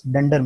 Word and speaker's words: dunder: That's why they are called as dunder methods. So when you pronounce double underscore, it can be shortly pronounced as dunder.